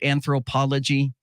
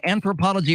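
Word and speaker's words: Anthropologie: aware of that brand is that am I saying it right anthropology uh yeah you're saying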